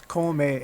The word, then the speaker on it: come: which uh in english it basically looks like c-o-m-e my mom hates that it's in it's in in spanish it's komae it means to eat